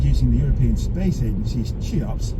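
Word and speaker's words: CHEOPS: The observations reported in the journal Nature were made using the European Space Ay's Chops, pronounced Chaops, spacecraft.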